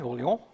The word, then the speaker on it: Orleans: It's a project called Project Orleans, to pronounce it correctly, as Michael will probably hopefully correct me, Orleans. Orleans, okay, in English.